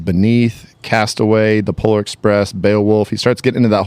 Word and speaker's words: Beowulf: You say it like I did. Yeah. Woof. You guys both say woof. And it's Beowulf. funny to me. It's a silent L. Everyone knows it's a Beowulf? silent L.